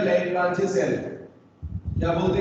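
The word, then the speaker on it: Leclanché: तो primary cell में बेटा सबसे ज्यादा जो यूज होता है वो होता है जिसका नाम है ड्राई सेल या लैग्रांजे सेल।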